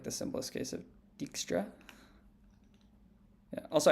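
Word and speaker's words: Dijkstra: the simplest case of dexra yeah also I know I'm pronouncing Textra wrong it's just that's how my friends pronounce it yeah yeah yeah okay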